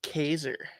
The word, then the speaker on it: Kaiser: Kaiser. Rhymes with laser, taser, blazer.